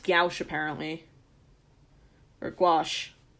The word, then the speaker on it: gouache: P I definitely misspelled that how do you pronounce that here we go gouache yeah gouache okay well now I know it's like yeah